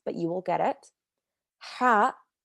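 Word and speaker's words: ح: you will get it ha comes from the back of your throat ha ha almost like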